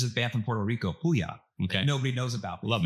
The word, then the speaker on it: Puya: How you spell that? Puja? Puya.